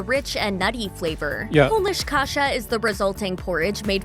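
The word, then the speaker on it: kasza: is kasha which is pronounced the same but spelled with a z instead of an H polish Kasha is made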